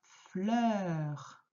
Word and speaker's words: fleur: Une fleur. C'est le E qui s'ouvre comme dans peur.